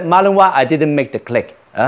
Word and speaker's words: Malinois: there's a Malinois and of course I have seen the name Malinois before it's a French pronunciation that's the origin because Madame I came from Belgium and in the book I when I read it all Marley no Marley noise I thought that is the name so when he said